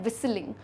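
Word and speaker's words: whistling: and last क्या है विसलिंग विसलिंग है य यहां पे तो विसल में अब थिंग होता है क्या विसल में हम लद टी को प्रोनाउंस करते नहीं है टी साइलेंट होता है लेकिन उसे लिखना जरूर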